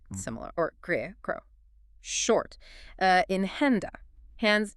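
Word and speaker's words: Hände: In henda, hands. Now, you will hear many Germans pronounce it more like an E.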